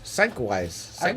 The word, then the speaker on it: Sienkiewicz: I thought it was Psychwise. that's the way Liefeld pronounces it.